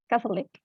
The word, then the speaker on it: Catholic: If you stress the first syllable, the other ones disappears immediately.